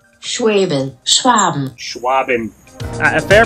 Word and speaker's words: Schwaben: And checking with Google Translate app that I am pronouncing the product name correctly. Schwaben. Schwaben.